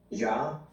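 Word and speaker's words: Jia: J-I-A. It's pronounced just like the Rasta thing, but it's a traditional Chinese name. J-I-N, John? J-I-A. J-I-A, Ja.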